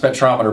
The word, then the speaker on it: spectrometer: It's pronounced spectrometer, but it measures a spectrum.